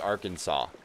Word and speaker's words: Arkansas: Kansas Kansas is pronounced Kansas but Arkansas is pronounced Arkansas h h broken English language on the road